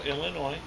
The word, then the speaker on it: Illinois: got that right Chicago Illinois hmm remember there's an S on it but you don't pronounce it that's right yes bourbon